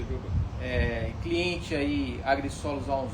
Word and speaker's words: Jhovan: No FrangoCast de hoje nós temos aqui o Giovan. Giovan? Pronúncia Giovan.